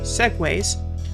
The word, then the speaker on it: segues: By the way, that's the correct pronunciation of this word, segues, before tearing them down and trying something else.